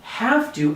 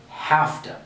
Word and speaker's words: have to: Instead of saying have to, and maybe you're familiar with this, we say have to.